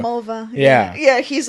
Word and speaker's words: Mulva: Because they have an episode about a girl's name that rhymes with vulva. Mulva.